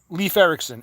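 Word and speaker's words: Leif Ericson: Leaf Ericson. Lif. Leaf Ericson. She's correct, Cassandra. So, she doesn't know how to make tacos, but she knows how to pronounce leaf correctly.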